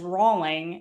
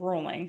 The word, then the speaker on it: Rolling: They pronounced it as Rawling instead of rolling.